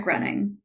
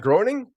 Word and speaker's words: Groening: name of administrate um it's like Matt grenning that's wrong everyone pronounces his name wrong too so Knight Rider who produces Knight Rider wrong no I said Matt grinning Matt Groening yes all right Nicole Luttrell